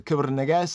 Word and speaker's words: Kebra Nagast: The KEBRA NAGAST, I'm going to say it more the Ethiopian way so we can get into the more correct pronunciation.